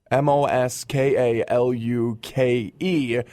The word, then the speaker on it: Moskaluk: Moskaluk is Moskalluke. So Jess Moskaluk. Moskalluke.